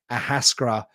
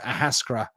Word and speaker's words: Ahascragh: Ahascra. It's a tough one for the old American spelling there and pronunciations. Ahascra.